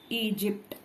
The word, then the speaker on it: Egypt: After G here Y is there, then it become soft G. So it is Egypt.